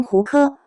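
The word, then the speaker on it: 胡柯: 胡歌原名胡柯，该名是爷爷所赐。然而，因胡歌在上海话中发音近似妇科，为避免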